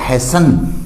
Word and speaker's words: hasten: इसी तरह HASTEN, यानी T साइलेंट है तो हैसन।